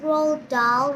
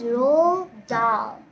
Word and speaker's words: Roald Dahl: I may have pronounced Roald Dahl wrong. I just said Roald Dahl because I didn't know the pronunciation. But now I know. So the word's real pronunciation is Roald Dahl.